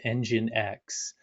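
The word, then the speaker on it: nginx: probably have heard of engine x uh it's it's spelled weird you know NG you you you speak out but it's it's engine X basically it's a proxy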